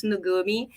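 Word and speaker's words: Nukumi: You pronounce Nugumi, even if you spell with a K.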